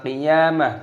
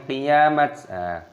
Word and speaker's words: qiyamah: Maka diganti dengan ha ataupun huruf ha, maka dibaca qiyamah, bukan qiyamat. Yas'alu ayyana yaumul qiyamah.